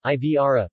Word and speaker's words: Ivrea: Ivrea, Italian pronunciation, Ivrea, French, Ivre, Latin, Iporadia, is a town and commune of the metropolitan city of Turin in the Piedmont region of northwestern Italy.